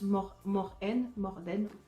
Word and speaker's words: Morten: qui s'appelle Morten, donc apparemment ça se prononce Morden, comme si le T se ne prononçait pas, euh, elle va complètement